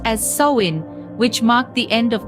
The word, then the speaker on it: Samhain: northern France they celebrated a festival named samhan pronounced as soin which marked the end of the harvest season